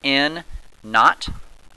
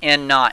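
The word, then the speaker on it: N₀: Now this N with a little 0 next to it is pronounced N naught.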